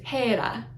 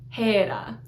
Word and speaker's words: Hera: Hera is Hera, Hera. Once again, it looks like an H. It's not an H, it's an eta. The h sound comes from the little rough breathing on the beginning.